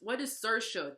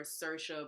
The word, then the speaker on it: Saoirse: pronounced, because this is spelled like it says Saroja. What is Saoirse? There's an A and an O after this S. That's not.